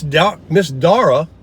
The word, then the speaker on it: Dara: So, Miss Dara, that's how she told me to pronounce it, D-A-R-A.